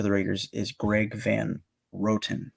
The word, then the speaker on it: Roten: Raiders is Greg Van Roten. That's what I'm going to say his last name because there's no way it's Rotten. It's spelled Roten.